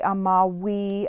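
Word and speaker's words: amavi: this v right here the romans pronounced vs like w's so amo amari amawi amatum i don't give you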